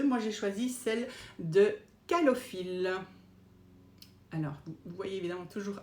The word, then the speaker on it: Calophylle: Alors il y en a deux, moi j'ai choisi celle de Calophylle. Alors, vous voyez évidemment toujours à l'envers, mais ça s'écrit C-A-L-O-P-H-Y-2-L-E, Calophylle.